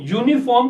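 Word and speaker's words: uniform: देखिए यू जो है एक वोवेल है, एक स्वर है, लेकिन जब इस शब्द को यूनिफॉर्म को बोला जाता है तो वाई साउंड आता है, यू साउंड नहीं आ रहा।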